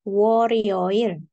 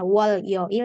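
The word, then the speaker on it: 월요일: berarti War sama yoil jadinya waril bahasanya bukan W yoil tapi W rioil oke waroil itu hari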